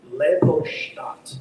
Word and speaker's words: Leopoldstadt: Is it Leopoldstadt? It's Leopoldstadt. Oh, Leopoldstadt. Okay. So I feel like You can mispronounce this.